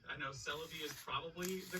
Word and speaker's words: Celebi: can't have mew without celebi yes that's how i pronounce it like celebrity i know celebi is probably the correct